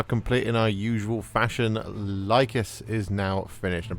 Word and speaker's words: Lhykhis: in our usual fashion lus is now finished pretty certain at this point that it is pronounced lus and well I really